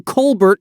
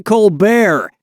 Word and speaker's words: Colbert: Okay, so Stephen Colbert of the Colbert Report changed the pronunciation of his name from Colbert to Colbert, and that's how he became rich and famous.